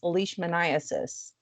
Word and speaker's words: leishmaniasis: So again, it's not whatever you butchered it to be. It's leishmaniasis.